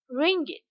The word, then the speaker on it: ringgit: It is spelled O-N-E 1 ringgit.